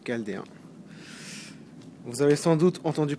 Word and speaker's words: Chaldéen: Aussi appelé Chaldine, mais bon, c'est une erreur. La vraie prononciation, c'est Chaldéen.